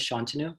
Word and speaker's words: Shantanu: to see you all my name is sean tenu rhymes with canoe i'm a third year